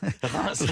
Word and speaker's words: Reims: J'aime bien comme vous prononcez Reims. J'ai répété ça beaucoup, j'ai pas pu. Reims, on dit.